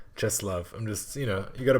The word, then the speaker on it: Czesław: Czesław Miłosz. What did I say? Czesław.